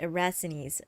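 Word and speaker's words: Erastenes: We are interrogating this Magister Erasthenes. We may learn more from him. That's how you pronounce it, Erasthenes.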